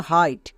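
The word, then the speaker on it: height: তাহলে নিয়মটা খুব ইম্পর্টেন্ট আই এর পরে জি এইচ থাকলে জি এইচ সাইলেন্ট চলো এবার বানান করি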